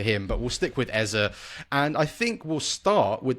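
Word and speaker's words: Eze: mine in years and and say it Eza. Perfect. We'll stick with Eza then because I I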